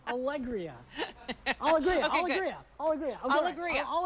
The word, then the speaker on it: Alegría: believe is an allergy medication uh it's correctly pronounced allegria i'll agree i'll agree i'll agree i'll agree